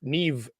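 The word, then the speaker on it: Niamh: Her sister's name is Neve. Nev. And it's spelled N I A Ha.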